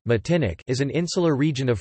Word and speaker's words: Martinique: Martinique (French pronunciation: Matinic) is an insular region